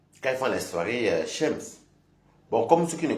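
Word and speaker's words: chems: Shems, c'est tout ce qui est drogue, alcool, sexe. Kems ou Shems, comme vous voulez. Mais ça s'écrit avec CH. Bon, nous en France on dit Shems, d'autres disent Kems, donc après.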